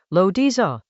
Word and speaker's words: Laozi: The Dao De Jing, pronounced Dao De Jing, is a short text from ancient China, attributed to a figure called Laozi, Lo Diza.